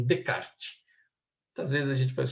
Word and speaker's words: Descartes: O nome dele não se pronuncia os S's. Então, Descartes.